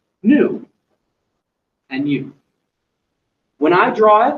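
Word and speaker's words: ν: seconds for us now this symbol which looks like a V is not a v it's a Greek letter as well this is new and new when I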